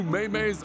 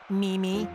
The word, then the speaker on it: Mimi: These new Maymays are hilarious. Coach, I think you'll find it's pronounced Mimi.